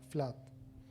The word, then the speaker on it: Flood: testimonio de un matrimonio de apellido flot bien pronunciado sería flat él se llamaba david y ella se llamaba espía en el año 1921 david flood desperdicó y su joven